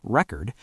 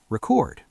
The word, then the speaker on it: record: For example, the word record is stressed differently depending on whether it's a noun, record, or a verb, record.